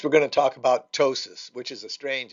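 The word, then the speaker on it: ptosis: going to talk about tosis which is a strange it's a Greek word and the p is silent and tosis is is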